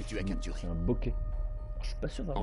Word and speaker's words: bokeh: C'est un bokeh. Je suis pas sûr d'avoir enchaîné. Comment ça se prononce, ça s'écrit.